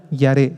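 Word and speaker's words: ירא: es la misma palabra yaré yaré y a r e con acento en la e y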